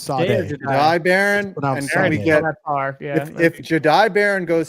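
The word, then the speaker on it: Jahdae Barron: J Jai Jade Jade Baron. It's Jai Baron.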